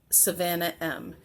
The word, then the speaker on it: Svannah M: It's SVANNAH space M. It's not Savannah like you would think that it would be spelled, like Savannah, Georgia, SAV. There's no A.